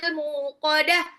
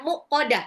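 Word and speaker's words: الموقدة: Allah Hut itu apa muqah muqah mimnya panjang sering ada yang salah bacanya muqodah Salah muqodah narullahil muqodah muqodah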